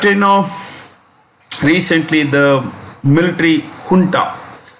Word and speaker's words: junta: know recently the military kunta this is the spanish word and this is pronounced with an edge okay the junta captured